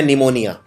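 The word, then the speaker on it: pneumonia: निमोनिया P से शुरू होता है, लेकिन इसमें P का उच्चारण नहीं किया जाता।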